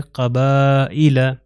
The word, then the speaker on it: قبائل: ہیں وہ ہے کسرہ، تو حمزہ کے نیچے یہ کسرہ آ گیا تو اس کے تلفظ ہے قبائل، قبائل۔ تو یہ یا جو ہے لکھا جا رہا ہے مگر پروناؤنس نہیں ہو رہا، کیونکہ سائلنٹ لیٹرز میں